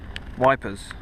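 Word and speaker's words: Ypres: cheese yeah let's go eat compliment e eer wipers to the British soldiers if they can't pronounce it we can't pronounce it cheers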